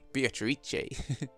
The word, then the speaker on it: Beatrice: That's how they say it in the anime, Beatrice.